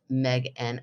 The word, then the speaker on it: Megan: Hi, Megan, pronounced Meg-N. I forgot that he does without the hard H. He does mention the hard H in here. Yay. Yeah, he says pronounced Megan without a hard H, by the way.